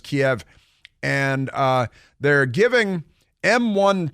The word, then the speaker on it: Kiev: is in Ukraine right now people keep saying Kiev but it's pronounced Kiev and uh they're giving M1 tanks our top